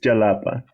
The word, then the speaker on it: Xalapa: me if I'm wrong because the X in Xalapa usually in Spanish is pronounced as if that were a J yeah yes it's is Jalapa at least I think